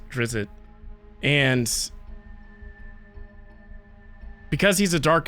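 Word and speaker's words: Drizzt: this series The Legend of I'm sure it's pronounced drizzit but I just like saying dritz so these this is the first three books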